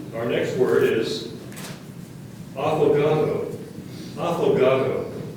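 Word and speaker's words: affogato: yes okay our next word is aato afogado it's a noun it means an Italian desert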